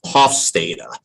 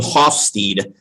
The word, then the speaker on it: Hofstede: And I know a lot of people pronounce his name Hofstede, but I saw a presentation that he gave several years ago, and they introduced him as Hofstede. So I'm like, oh, that must be the correct pronunciation of his name.